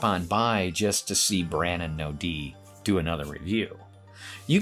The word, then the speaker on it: Brannon: That's right, there's absolutely no D in the name, pronounced Brannon, not Brandon.